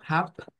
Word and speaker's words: hab: O sea, quizás si nosotros lo vemos así, o sea, si yo les digo, mire, esta HAB la va a pronunciar usted como hap, usted se quedaría, bueno, ¿y eso de dónde?